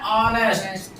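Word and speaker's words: honest: ठीक है, ऑनेस्ट, इसका प्रोनाउंसिएशन क्या है? ऑनेस्ट।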